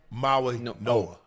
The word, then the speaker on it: Mauigoa: Oh, Francis Mauigoa. The G in Polynesian, Ocho, Silent. The G is pronounced Mauigoa.